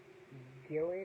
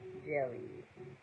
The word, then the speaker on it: gelid: Gillid or Gillid, Gelid, G-E-L-I-D. Hold on. Icy, extremely cold. How you pronounce it? Jelly.